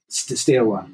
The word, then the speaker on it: Steaua: Steaua, yeah. It's think of it Steaua as in Steaua claiming a set of stairs and W then Steaua.